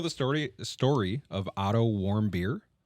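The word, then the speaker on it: Warmbier: of OT warm beer warm beer I think is how you say it did he produce alcohol inside his own stomach because no and it's it's w a r m b i e r so I think warm beer but just I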